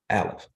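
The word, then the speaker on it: אלף: with water Divine air aleph is pronounced alif ah so we're talking about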